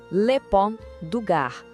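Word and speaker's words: Le Pont du Gard: Vamos lá na pronúncia. Lepon DAR, uma obra prima da engenharia romana que inacreditavelmente ainda está de pé depois de 2000 anos desafiando o tempo.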